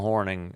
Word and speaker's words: Hornung: Paul Paul Horning. Uh, it it's spelled Hornung, but I knew what you meant.